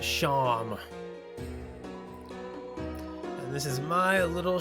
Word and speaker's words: Seam: The name's Seam, pronounced Sham.